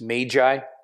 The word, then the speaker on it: magi: Generally speaking, the magi, which we actually should pronounce magi. It's like tomato, but it's magi.